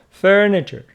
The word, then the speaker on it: furniture: is just an example Furniture how many syllables has it got it's it's telling you three syllables yeah and the stress is on the first syllable it says furniture furniture